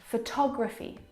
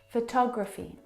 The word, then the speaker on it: photography: very strong at all now if you look at the second example photography you can hear the pronunciation is different and that's because the second syllable is the stressed syllable in this word photography all talk photography compare it to the first syllable where the schwa sound is it reduces down